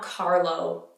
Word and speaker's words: Carlo: Italy Cod roll not Carlo Carlo again same rules common all the vowels are tight we have the Italian